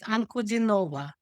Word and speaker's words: Ankoudinova: So, he can pronounce it anova.